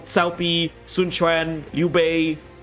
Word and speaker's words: Cao Pi: Okay, their pronunciation is shit. Right? Okay, we still have Cow Cow and Cow P in Dynasty Wars 4 and 5.